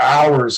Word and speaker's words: hours: They don't know what's going on because they're hours, because you don't pronounce the H.